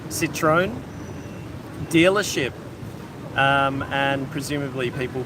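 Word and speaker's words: Citroën: it had Vietnam's first Citroen I think that's how you pronounce it citrone dealership um and presumably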